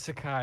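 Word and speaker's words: isekai: in fantasy oh yeah it's Sakai that's how you say it I've only ever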